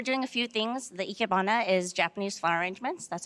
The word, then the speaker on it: ikebana: The ikebana is Japanese flower arrangements.